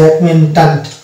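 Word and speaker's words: acquaintance: এই সি কিউ যুক্ত word যেমন হচ্ছে অ্যাকুয়েট্যান্ট, এই যে অ্যাকুয়েন্ট্যান্ট, অ্যাকুয়েন্ট্যান্ট, এই জায়গাটাতে কয়ের উচ্চারণ আসছে কিন্তু এই সি এর উচ্চারণটা মানে সাইলেন্ট হয়ে যাচ্ছে।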